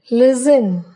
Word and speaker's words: listen: T is silent in the following words: castle, Christmas, fasten, listen, often, whistle, bustle, hasten, soften.